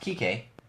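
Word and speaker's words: Kiké: I talked about Kike because it's pronounced Kike, but the spelling of his name can be misconstrued if you're not saying it with the accent.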